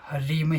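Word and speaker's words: ह्रीं: और यह है तो इसमें हरी में ही है जो है उसका उच्चारण थोड़ी मात्रा में हो या में आयरन भी कह सकते हो लेकिन यह पूर्ण रूप से साइलेंट नहीं आएगा हरीम यानि पहले थोड़ा हटकर आएगा उसके बाद और उसमें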